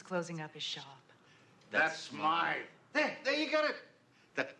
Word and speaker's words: Smythe: Smith is closing up his shop. That's Smythe.